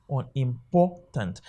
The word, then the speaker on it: unimportant: simply means is that this u n here okay is a prefix it cannot receive the stress that's why when you hear somebody pronouncing that what unimportant it is wrong because you ended the u and n they can never be stressed so it remains unimportant let's assume it has